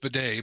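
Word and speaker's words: Badie: possibility we might get Tyler batty back or B how we pronounce it he says it's pronounced Bay but so so we'll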